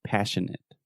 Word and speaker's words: passionate: you said passionate passionate so remember the majority of adjectives in English that end in ate we will simply produce the it sound so passionate passionate delicate delicate adequate